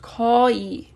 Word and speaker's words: 거의: But because it's in the middle or end and it's not the possessive, it's pronounced 거의.